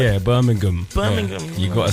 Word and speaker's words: Birmingham: You were in Birmingham. You know the way the London people say it. We don't pronounce it properly. Do you know what? They pronounce the G hard. Yeah, Birmingham.